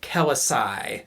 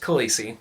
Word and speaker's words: Khaleesi: be generous, and I'm going to say this is pronounced Kelisai. And after listening to the audiobook, it is not. It is pronounced Khaleesi.